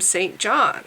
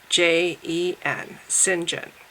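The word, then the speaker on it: St John: and I believe Sinjin is spelled Saint John S T and then the name John but I don't want to call it I don't want to spell his name that way because everyone's gonna mispronounce his name and call him Saint John so I'm spelling it s-y-n-j-e-n Sinjin because I think that's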